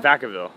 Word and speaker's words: Vacaville: you were born in how do you say like bracketville bra in California in California yeah Vacaville Vacaville oh my god um yeah